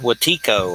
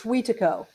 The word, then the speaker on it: Wetiko: I've heard it called Watiko or something, like some book was called that, Yeah, yeah, Wetiko or something. it's Wetiko. Wetiko is how you say Watiko.